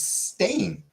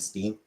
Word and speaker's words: Stain: It's Stain. Look them up wherever you want. It's everyone and their mom said Steen. It was so common to pronounce it as Steen or Stein. So many people misremember it.